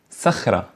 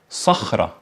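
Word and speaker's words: صخرة: solute which means friend or saying Sahara instead of Sahara which means Rock so deep so deep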